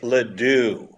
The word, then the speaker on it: LeDoux: Chris whatever that is it's Chris LeDoux Ledoux if you said it rhyme with you I would remember that